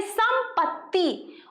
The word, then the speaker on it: संपत्ति: यहाँ पे ये देखिए, यहाँ पे ऐसी लाइन खींची हुई है, ठीक है, आधा त है, इसलिए हम इसका प्रोनाउंसिएशन करेंगे संपत्ति, और इसको क्या कहेंगे?